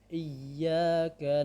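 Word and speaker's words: إِيَّاكَ: Selanjutnya adalah Iyyaka na'budu wa iyyaka nasta'in. Baik, di sini ya bertasydid agak diayunkan, agak ditekan dan agak diayunkan. Iya, ya. Jadi bukan iya, bukan didengungkan. Iya, bukan, akan tetapi diayunkan.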